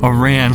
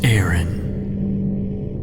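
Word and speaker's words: Aran: we are now officially samus aaron or a rand like how i used to pronounce it but it's aaron what we find when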